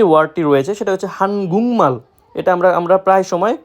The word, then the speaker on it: 한국말: তো প্রথমে যে ওয়ার্ডটি রয়েছে সেটা হচ্ছে হানগুংমাল। এটা আমরা প্রায় সময় হানগুকমাল উচ্চারণ করে থাকি, যেটা সম্পূর্ণরূপে ভুল, যার অর্থ কোরিয়ান ভাষা।